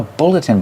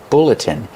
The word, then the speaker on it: bulletin: This is called a bulletin board. Pronunciation, bulletin. Use the short like look and book.